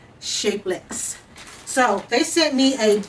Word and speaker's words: Shapellx: you see it as shape llx but it's pronounced shapeless so they sent me